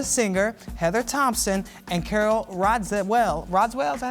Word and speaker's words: Radziwill: Ramona Singer, Heather Thompson, and Carol Radziwill. Radziwill, is that how you say it? Radziwill, yeah.